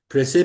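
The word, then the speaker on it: précis: और उसके अलावा सही है, प्रेसे पे हम आएंगे। एक तो सबसे पहले आप लोग प्रेसे की स्पेलिंग सीखेंगे।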